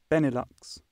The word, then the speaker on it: Benelux: Benelux is, how do you pronounce it? Benelux.